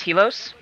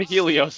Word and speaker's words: Heilos: I am also known as hilos that's how you pronounce it okay finally mystery solved wa I know I'm so sorry I've been saying Helios all these years until I realized the